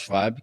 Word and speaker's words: Schwab: Esse termo foi inventado por um cara chamado Klaus, se escreve Schwab, né? Mas em alemão é Schwab, já que ele é alemão.